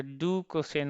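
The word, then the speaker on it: docosane: है, तो यहाँ पे E साइलेंट हो जाएगा, तो डू कोसेन हो जाएगा, ठीक है।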